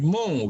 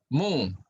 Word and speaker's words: mho: OHM, dibaca dari belakang apa jadinya? Oh, Ya kalau di belakang, dibaca dari belakang, ya kita bacanya namanya menjadi mho gitu ya. Mho, MHO, mho.